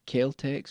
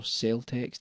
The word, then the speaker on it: Celtx: going to use is called kex or salex depending on how you want to pronounce it the industry standard uh